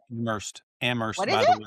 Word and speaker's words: Amherst: pronounced Amherst, What Amherst, is by the it?